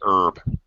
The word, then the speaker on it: herb: or a a British most everybody else pronounces the H herb but Americans do not um okay uh the initial H as it says here is normally pronounced outside America and in um but not by Americans Americans say herb uh silent h uh okay uh